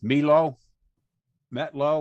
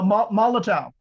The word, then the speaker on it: Molotow: you like uh that i can't even pronounce it begins with an m milo metlo or something like that no molotow molotov yeah whatever it looked great